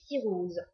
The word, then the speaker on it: Syros: Alors moi, j'ai toujours prononcé cirose. Pour moi, il y a pas de à la fin, il y a pas de s. C'est ma collègue prononce ciros. Alors effectivement, peut-être que ciros c'est plus juste parce que siros ça reste c'est aussi une maladie. Donc c'est un peu un peu bizarre mais voilà.